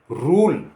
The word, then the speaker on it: rule: जैसे RULE रूल, रूल माने नियम, तो यहाँ यू का ऊ की आवाज़ आई और ई की आवाज़ नहीं आई, ये उच्चारण उसका नहीं है।